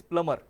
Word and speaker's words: plumber: The first one is, in plumber the B is silent, so actual word is plumber.